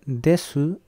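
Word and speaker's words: です: La forma formal se escribe desu, pero se pronuncia des.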